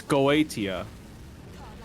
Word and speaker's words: Goetia: It's Let's just Google how to pronounce Gatia. It's Goetia.